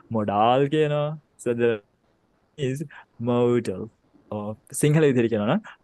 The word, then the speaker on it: modal: component libraries වලදී MODA ඒක එක විදිහට කට්ටිය pronounce කරනවා model කියනවා modal කියනවා so the is modal or Sinhala විදිහට කියනවා නම් model English වලින්